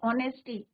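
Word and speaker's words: honesty: ऑनेस्टी, H silent रहता है, तो हम क्या यूज करेंगे, एन।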